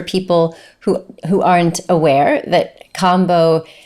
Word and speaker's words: Kambo: who aren't aware that Kambo, spelled with a K-A-M-B-O, not combo as in combination, but it's frog medicine.